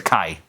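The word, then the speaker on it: chi: It's pronounced the Kai, right?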